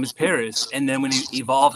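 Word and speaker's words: Perras: They phonetically spelled the city of Paris as P-E-R-R-A-S and pronounced it as Paris.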